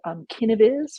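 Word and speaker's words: Kineviz: There's another company called Kinaviz, which is spelled with a K, almost like KindViz.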